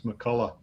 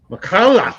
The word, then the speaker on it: McCullough: One you pronounce the CH on the end, the other you don't, and I forget. You're not supposed to pronounce it. It's McCullough. McCullough.